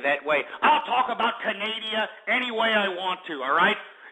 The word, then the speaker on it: Canada: It's pronounced Canada, not Canadia.